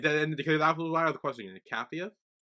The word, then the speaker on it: Capheus: Cathia.